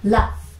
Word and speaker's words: laugh: 자, L은 L, A는 E, GH는요 발음이 납니다. 이거 제가 펜으로 한번 보여드릴게요. 자, L, 그쵸? A는 E, GH 합쳐서 F 발음이 나요. 그래서 레, 이렇게 읽으시면 됩니다.